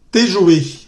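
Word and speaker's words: tes jouets: Te joué. Exactamente. Te. Listo, Ross. Angelina es te. En plural. ¿Listo? Te joué. Son los juguetes. Te joué. No pronunciamos ni la T ni la S.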